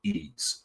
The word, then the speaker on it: Ys: So, there was some I mean, there was uh the E series. I mean, well, the the the series is like spelled capital Y lowercase S and it's pronounced E.